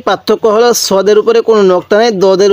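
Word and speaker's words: صاد: scene আর এটা সৎ দোনো হরফের উচ্চারণ আমরা একই করে ফেলি আমরা এরকম একই করবো না দোনোটা হরফের উচ্চারণের মধ্যে অনেকটা ডিফারেন্স আছে তাহলে সৎ কিভাবে পড়বো সদ এরপরে এই হরফটির নাম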